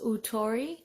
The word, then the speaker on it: OOTORI: It is, I believe, pronounced Ootori, OOTORI.